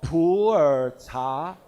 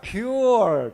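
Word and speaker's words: Pu'er: is coming up in typical chinese pronunciation mandarin pronunciation is called poor poor tea but with your typical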